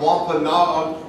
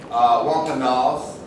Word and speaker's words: Wampanoag: The Commonwealth of Massachusetts invited the Wampanoag, and some people say Wampanoags, there's two different pronunciations for that particular Indian tribe, leader Frank James to deliver a speech.